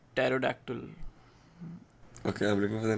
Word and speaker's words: pterodactyl: There are names in which P is silent. Pterodactyl.